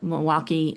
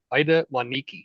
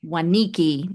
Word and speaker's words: Waniki: But Ida Waniki. Waniki, yeah, okay. Yes. So I was like thinking it was like Milwaukee, but I'm like, no, I didn't. No, I didn't pronounce that correctly.